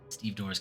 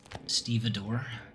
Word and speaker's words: stevedore: Steve Door's key. Stevedore. Is how you're actually supposed to pronounce that.